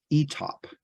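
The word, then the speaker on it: Étaples: Some researchers have suggested that the flu began at a British Army base, pronounced ETOP in France.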